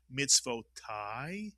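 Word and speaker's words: מִצְוֹתַי: So, if mitzvot is commandments, mitzvotai is my commandments. Mitsuyan. And this word is pronounced mitz vo tai.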